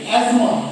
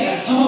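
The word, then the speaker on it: asthma: আমরা এটাকে কি বলবো ইসমাস বলবো যেমন দেখবেন এজমা এজমা যদি বানান করো এস টিএনজি আমরা কি এস্থামা বলি যারা বলি তারা ভুল প্রোনাউন্স করি একচুয়াল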